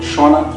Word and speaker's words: Shona: Yes, I speak a language called Shona. Shona. Shona. Shona.